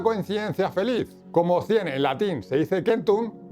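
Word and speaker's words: centum: Y aquí ocurrió una coinci en latín se dice kentun. Recordar que la C en latín se pronuncia como una K.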